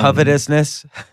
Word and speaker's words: covetousness: uh the law of covetousness am I saying it right coet I would I would say um covetousness yeah yeah okay and